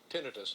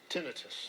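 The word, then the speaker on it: tinnitus: information here you and I both have uh tenus or tenius yeah how do you pronounce it tinitus tinitus describe for people who may not know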